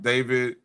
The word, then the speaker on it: D4VD: Um, there was a story a couple months back about David, that's how you supposed to pronounce it.